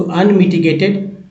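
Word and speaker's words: unmitigated: देखिए अनमिटिगेटेड, ऐसे भी एक के बाद जब ई आता है एक का उच्चारण, ये वाला एक का उच्चारण ए ही होता है। तो जी में जी को ग बोलेंगे तो ग में ए लगा तो गे हो गया।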